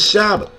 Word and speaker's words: Shabbat: The correct pronunciation is Shabbat.